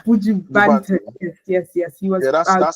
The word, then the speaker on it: Buju Banton: And from there, he was touring with Buju Batson. How do you pronounce that name? I'm so Buju sorry. Banton. Yeah, Buju Banton.